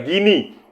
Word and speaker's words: Guinea: Gini saudara-saudara, gini. Guinea, tapi bacanya gini.